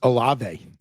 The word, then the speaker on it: Olave: rid of Kraft for Kareem Hunt and Chris Olave for the Saints. And the other one was Kraft for Olave and Rashad. It's Olave.